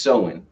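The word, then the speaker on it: Samhain: date back to the ancient celtic festival of sewin it's pr it's it's spelled sam hayne but it says it's pronounced so in okay so solon it's an ancient celtic festival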